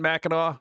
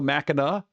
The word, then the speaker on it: Mackinac: No, the C is silent, so Mackinac? No, it's Mackinac.